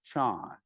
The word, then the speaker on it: Chan: Chinese character for Chan in China this character is pronounced Chan in Japan this character